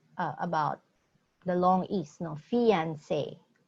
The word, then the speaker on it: fiancé: Fiancé, long A. So, fiancé.